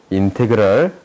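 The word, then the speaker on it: ∫: 그러면 이것을 기호로 나타낼 수 있는데 기호로 라지 fx는 인테그랄, 얘를 인테그랄이라고 읽어요.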